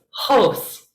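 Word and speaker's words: ὡς: It's a whole word, but it has a rough breathing mark, so it's hos, hos. Hos is the simile word for like or as.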